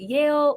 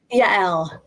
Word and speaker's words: Yael: I was like, is it Yale? So say that one more time. Yael. Yes.